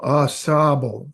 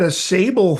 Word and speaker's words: Ausable: assab oh assab um it's French you know a sable um which means I think we're the where